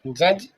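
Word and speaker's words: judge: इसे hello guys आप देख रहे हैं जज। जज मींस न्यायाधीश। जज डी साइलेंट है। डी का साउंड नहीं आया।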